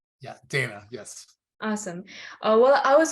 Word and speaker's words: Dana: Is it pronounced Dana, your name? Yeah, Dana, yes.